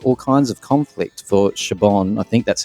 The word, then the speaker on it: Siobhan: now this caused all kinds of conflict for siobhan i think that's how you pronounce it lee is that right yes it is siobhan yeah yeah and stockade and i'm telling you